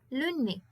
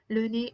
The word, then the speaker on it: le nez: Le nez. Le nez, it is the nose. Le nez. I don't say le nez, I say le nez. Le nez is it. At the end, it is pronounced E.